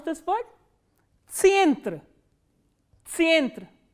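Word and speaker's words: центр: Tsyentra, tsyentra. Can you think of any word in English which is pronounced in the similar way? Tsyentra, center. So, tsyentra is center.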